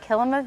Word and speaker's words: Kilima: called Kilima Village. So the root word is similar to Kilimanjaro. It kind of just helps you pronounce it there.